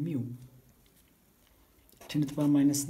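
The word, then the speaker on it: μ: And you pronounce it by saying mu.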